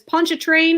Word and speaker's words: Pontchartrain: And Heather Lee says Pontchartrain is how you pronounce it.